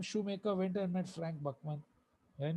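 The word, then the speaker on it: Buchman: BUCH, बुचमैन लिखा है लेकिन प्रोनाउंसिएशन है बकमैन।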